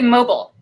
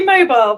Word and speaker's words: mobile: good one Megan boom I say mobile so try and say mobile then mobile oh so basically